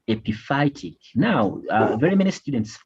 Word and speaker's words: epiphytic: you should always do read these words in syllables now this is ap by it then roots ap phytic roots don't try to look at the why the whole family they won't fail to pronounce it so this is epi phytic roots now epiphytic roots are